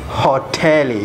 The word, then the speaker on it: hoteli: same in english but in english uh it's hot hotel but in sohil it's hotelie you seem like uh prolonging the world you know it's like you it's just uh prolonging the word well pronounced hoteli hotelie in english you pronounce hotel okay and there is